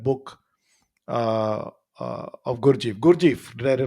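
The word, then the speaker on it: Gurdjieff: you picked that book uh uh of gurji gurjeev did I pronounce that correctly yeah it's g-u-r-d j i e f f good chief good Chief so between that time when venkatraman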